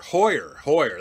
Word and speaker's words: Hoyer: Hoyer, that's how you pronounce his name.